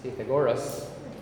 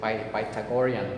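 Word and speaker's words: Pythagorean: have yesterday what was yesterday what's yesterday some pronounce it as titagoras but uh the right uh way to pronounce that is by tagorian paita by tagorian theorem so what is that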